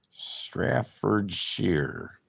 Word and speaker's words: Staffordshire: Staffordshire. Maybe Deer Butch. It might be sheer. Like deer. It rhymes with deer. It's sheer.